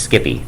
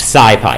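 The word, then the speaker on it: SciPy: But if I hear a mathematician call this Skippy, I'm going to be mad, right? Okay. So, um, what is Skippy? It's pronounced sci.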